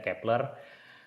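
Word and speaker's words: Kep1er: f1r obat Kepler ya Terus setelah Googling Googling bacanya Kepler dan inspirasi juga Memang dari Johannes Kepler Mbah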